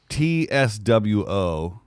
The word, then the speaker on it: Tso: General Tso's chicken. Yeah. Pronounced. Oh, that's so dumb. Pronounced TSWO. General Tso.